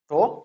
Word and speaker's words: tau: denoted by the letter tau. Sometimes it is pronounced as tau. Tau or tau, both are pronounced.